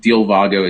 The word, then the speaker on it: Dealvago: So you can find Dilvago. It's spelled DEALVAGO.